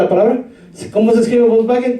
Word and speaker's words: Volkswagen: Si alguien en Alemania pronuncia la W, va a decir Volkswagen. ¿Se recuerda la palabra? ¿Cómo se escribe Volkswagen? Con una W, pero no dicen Volkswagen, ¿no? Sino es Volkswagen, es como una V.